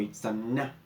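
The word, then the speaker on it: Itzamná: El siguiente dios es Itzamna, o Itzamna, para los que lo leen como se debería pronunciar.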